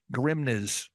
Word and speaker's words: Grimnes: i m nees so someone's going grimnes Grims gri you got it the first time if you add s